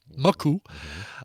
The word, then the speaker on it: Maku: Or Maku, I guess you usually put the emphasis on the first syllable. Maku.